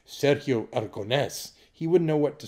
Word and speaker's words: Aragonés: Okay, a lot of people know that I'm a friend of Sergio Aragonés. And isn't it funny we all say it like Americans instead of Sergio Aragonés?